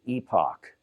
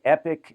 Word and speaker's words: Epoch: To me, that's Epoch, but I hear it Epic. So I'm going to say Epic Bias.